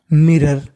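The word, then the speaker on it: mirror: या नजर डालना एट मिरर मिरर उसने शीशे की ओर अचानक से देखा आर दो बार उच्चारण एक बार करना है और ओ आर को पढ़ना है आर सडनली शी ग्रेंस्ड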